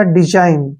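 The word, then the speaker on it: design: एन ठीक है ना तो यहां पे एन से पहले फिर से जी आ गया तो जी को हमने नहीं पढ़ना है यहां पर बनेगा डी का उच्चारण हमेशा डी करते हैं हम और एस का उच्चारण यहां पे जा के रूप में होगा और आई का उच्चारण हम आई पढ़ते हैं और एन का उच्चारण न करते हैं यह बनेगा डिजाइन ठीक है ना डिजाइन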